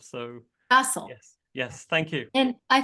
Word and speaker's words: Faisal: It is pronounced Faisal. So in American English, as you would say castle, C-A-S-T-L-E, replace the C with an F and Faisal. That's the easiest I've learned to describe it to an American audience.